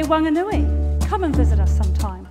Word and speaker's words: Whanganui: In Whanganui, the H is aspirated, so it's not a wha, it's a wa. It's not Whanganui, it's Wanganui. Are you ready to learn? Whanganui.